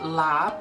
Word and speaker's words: larb: of my favorite summertime salads it is called lob it is a lauda short I - but